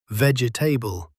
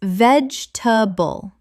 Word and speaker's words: vegetable: I hear people at restaurants all the time saying vegetable. Oh, vegetable sounds like a table made of carrots. No, no, guys. It's vegetable. Just three quick syllables.